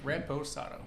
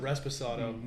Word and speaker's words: Reposado: Reposado. Reposado? I thought there was a. If you can't I said, read- I said Resposado.